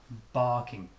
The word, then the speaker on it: barking: opening mouth wide ah if you're speaking with a American accent he would have a after bar ar-ar-ar but I'm British I'm British people don't most British people don't pronounce this are ah barking next but but easy